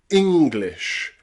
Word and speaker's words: English: England, English, and pretty. Okay? In some words where you stress that E, we pronounce it as the short I sound.